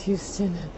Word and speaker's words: Houston: We have a street that I walk on every day and it's pronounced Houston, even though it's spelled exactly the same.